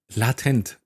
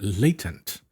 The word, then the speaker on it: latent: Oh yeah, I gotta remind that last time I said latent token because in German, it is latent. But of course, in English, when I go here with the British pronunciation, I put this here as a reminder that it is a latent.